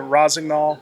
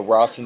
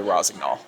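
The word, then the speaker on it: Rossignol: Say if once for me once again because I keep pronouncing it Raznol, Rosinol, Ros. So, one more time, Max. Uh, well, the the French would say a soft GN, so Rosen, but uh, a lot of the the American team, you say Rosnol.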